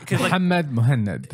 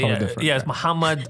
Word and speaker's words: Mohanad: The thing is, like in Arabic, like when you pronounce Mohanad, it's complete. Like it's Mohanad. Exactly. Mohanad.